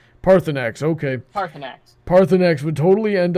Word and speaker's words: Parthurnax: Heather, pronounce that dragon name. Parthenax.